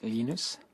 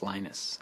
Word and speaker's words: Linus: I speak Swedish it's meanness I speak Finnish it's Lino's when I speak English its Linus and I really don't